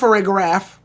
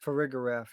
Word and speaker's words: Farigiraf: I think at this point, the problem is, it's pronounced Farigiraf. Farigiraf, yeah.